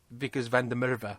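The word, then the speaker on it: Wikus van der Merwe: Because the suffering that Vickers van der Merwe was going through, that's how you say his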